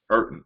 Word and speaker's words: Erton: captain in training, Mark Erton. Is that how you pronounce it? And we have Burton. What is Burton. it? It's like Burton without a B. Oh, Erton. Okay, Erton.